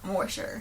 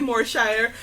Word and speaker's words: Moorshire: of morer morer yeah that's probably how you pronounce it yeah I was thrown a back so there are two words I'm probably will mispronounce just from the get-go I will tell you it's probably more Shire and the word golf